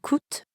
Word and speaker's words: coûtent: Here, coûte ends in ENT, and croissant ends in S. But we don't pronounce those letters at the end, which we know sometimes happens in French.